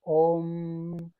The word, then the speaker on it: om: la y la u se juntan se pronuncia o entonces por eso es om pero cada uno de